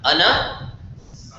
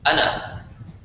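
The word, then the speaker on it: أنا: It's kind of like ana, right? Ana, there's alif there, but you don't pronounce it.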